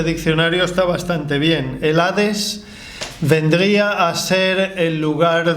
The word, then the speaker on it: Hades: Testamento y la palabra griega Hades del Nuevo Testamento o jades pronunciado con j luego hay una tercera